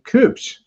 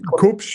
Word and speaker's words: Kubsch: of your screen is a gentleman named Cooch. Am I pronouncing that correctly? Yes. Cooch. It's Coops.